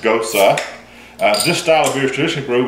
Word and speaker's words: Gose: trumpet most trumpet most cosa and yes it's pronounced Gotze this style of erudition brewed with heavy use